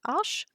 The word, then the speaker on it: Arches: test on a cotton 100% cotton paper from Ash um that's the correct way to pronounce uh most people I know um say arches to the company but I I really have